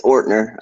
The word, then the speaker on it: Ortner: redacted caucus mr i actually don't know how to pronounce your last name it's ortner um yeah it's it's german it's it's everybody tries to over pronounce it every time but yeah